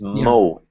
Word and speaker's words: mow: The only one little thing that I noticed was this word here in the I wrote it in the chat box is mo. M O W. Mo.